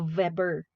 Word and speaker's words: Weber: Kaya Weber yung pronunciation ng kanyang pangalan.